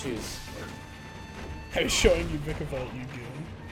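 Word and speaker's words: Vikavolt: I was showing you Vicavolt, you goon. I'll even pronounce him wrong. Vicky Valt.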